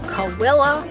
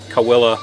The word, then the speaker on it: Cahuilla: not pronouncing it correct we asked the local and this is how we were told to pronounce it cawilla like there's a w in it just pointing